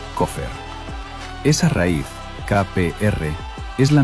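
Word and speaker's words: כֹּפֶר: Se pronuncia coffer.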